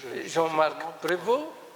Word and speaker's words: Jean-Marc Prévost: Alors, nous allons écouter le professeur Jean-Marc Prévost. Je prononce correctement votre nom?